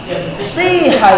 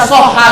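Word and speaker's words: صحة: Jangan tanya seperti itu, Ustaz, kenapa nggak baca soha, Ustaz? Kenapa nggak baca suha, Ustaz? Ya memang perubahannya menjadi siha.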